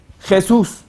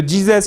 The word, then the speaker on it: Jesús: Como por ejemplo, Jesús, usted conoce, ¿no? Pero Jesus, ¿quién es? Es el mismo Jesús, pero mal pronunciado. Los ingleses dicen Jesus.